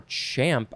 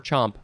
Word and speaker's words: champ: Next we have chomp, or champ. I think you could say champ or chomp. We're just going to say chomp. It's spelled like chomp.